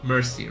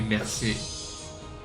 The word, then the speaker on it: merci: Like, you cannot say like mercy, right? You have to say merci. I think you have to say it like that.